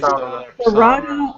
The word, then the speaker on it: Sarada: guess it's the Japanese, they don't pronounce the letter L or something. They pronounce it. It's like Sarada also could be named after Sarada Devi, wife of a spiritual counterpart to Ramakrishna.